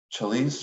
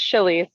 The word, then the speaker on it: Chalice: I did, and it's Chili's. Chalice, I'm so sorry. You're good. You're good. Nope, it's spelled like chalice.